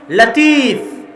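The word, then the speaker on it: لطيف: মানে লতিফ আল্লাহর নাম। কিন্তু সঠিক উচ্চারণ হচ্ছে লাতিফ। সঠিক উচ্চারণ কি? লাতিফ। লতিফ এটা সঠিক উচ্চারণ নয়। লাতিফ হচ্ছে সঠিক উচ্চারণ।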